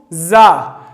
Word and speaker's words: ز: دا به څنګه تلفظ کوو؟ زا. لکه موږ تاسو بعضې هغه پیژنو، لکه که شاتو مچۍ وګورئ نو هغه څنګه اواز کوي؟ یو بزاری کوي.